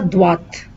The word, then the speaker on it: droite: The difference here is you say droit. You don't pronounce the T here, but here you pronounce the T. Tout droit. À droite.